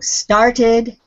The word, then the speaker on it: started: The ending, the ED ending, will make it sound like an extra syllable on the word. So, started, shaded.